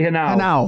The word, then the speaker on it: Henao: Is it Henao? Say Henao. Henao.